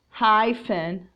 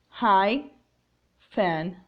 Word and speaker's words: hyphen: Attention to some words that are spelled with letters PH, but the sound is of F. For example, phone, phone, hyphen, hyphen, or nymph, nymph.